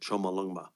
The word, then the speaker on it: Chomolungma: Chomolungma, as it's called, that's how they pronounce it, Chomolungma.